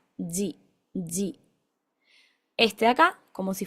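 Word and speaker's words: ぢ: Acá Ya dos sonidos distintos que no son di y du, sino que son ji y zu.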